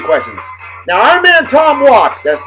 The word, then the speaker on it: Walke: Now, our man Tom Walk, that's not Walkie, not Walker, the E is silent.